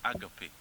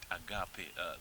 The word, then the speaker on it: agape: the greatest is agave people call it agape but i call it agape that i got the pronunciation of that word from the greek language agape and that love